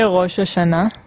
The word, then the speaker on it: Rosh Hashanah: So can you guys can you say Rosh Hashanah?